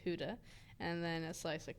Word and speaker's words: Gouda: No, you're supposed to put Gouda and Colby. So thick. You gotta put like a slice of Gouda, which is apparently pronounced Huda, and then a slice of Colby.